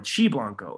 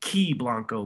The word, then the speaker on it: Qi Blanco: my brain so enter now key blanco or chi blanco because it's spelled q-i-b-l-a-n-c-o for those that are just listening it looks like it would be pronounced ki blanco but in the uh in the eastern eastern